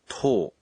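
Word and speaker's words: とお: followed by a tsu 10 is unique it doesn't take to and is pronounced as tol please listen to the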